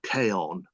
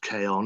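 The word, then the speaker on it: Chion: a children's book called Kon which is uh spelled c h i o n but pronounced Kon it's either Latin or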